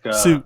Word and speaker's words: Hsu: Like Hsu. Just like the H is silent, you know.